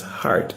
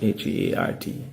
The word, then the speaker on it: HEART: Now, the proper pronunciation is HEART, H-E-A-R-T, HEART Trust.